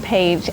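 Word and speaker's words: plié: going to go over from this book is pa. Okay. So, I wrote out the word plea and pa means to bend, bent or bending. It is found on page 88 of this manual, this book, and it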